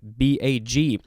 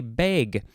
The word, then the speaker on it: bag: episode is uh bag b-a-g some people like to say beg oh and you know what that is an officially official pronunciation for this word bag or bag this